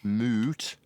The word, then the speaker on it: moot: by referencing timmy clan moot like moo cow and mute with a you got it got it